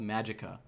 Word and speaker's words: Magicka: I never finished it, of a game called Magicka. And yes, I said it correctly. It's spelled Magicka.